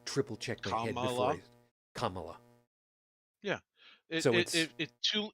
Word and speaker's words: Kamala: check my head before Kamala yeah two it's three syllables two letters each Kaa yeah the way